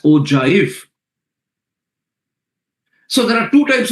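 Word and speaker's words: ogive: So it is O G I V pronounced as OJif.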